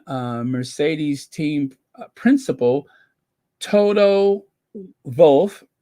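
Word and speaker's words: Wolff: Mercedes team principal Toto vulf right it's pronounced with a be Toto vulf ahead of the race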